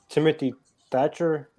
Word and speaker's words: Timothy Thatcher: um road dog uh timothy thatcher that's how you pronounce his name the guy with the